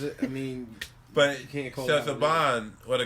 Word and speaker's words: Saban: It's pronounced Saban.